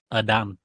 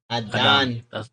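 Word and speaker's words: Adán: how weird Mexicans are so you know how it's Aiden right it's called Adan Adan that's that's the way they pronounce know chz cuz cuz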